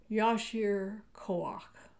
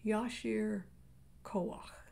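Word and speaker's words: יישר כוח: blessing among ashkenazi jews try saying the hebrew with me yashir that last syllable is the guttural ah that clears your throat try again yashir kawak i can't tell you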